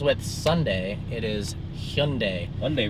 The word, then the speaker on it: Hyundai: Wednesday for Wednesday's Vlog Hundai Hyundai H not Hyundai not Hyundai hund pretty much everyone pronounces that wrong so hund you might even sound dumb pronouncing it like that but it is the correct way to say it it is indeed and